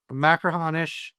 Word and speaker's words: Machrihanish: Machrihanish.